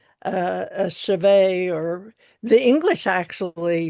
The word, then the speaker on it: chevet: And it says chevet. And there's a very nice woman saying chevet.